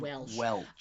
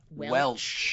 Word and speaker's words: Welch: But it's it's it's representative Welch. Um no Welch like Welchers. There's no S. There's no s. It's not sh it's ch.